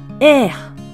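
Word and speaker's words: ère: 短い女性名詞ですこのように発音しますエエまるでアルファベットの A のようですね実は 3 文字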